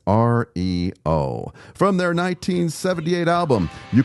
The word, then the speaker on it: REO: For an unexplained reason, the band chose to pronounce Rio as R E O.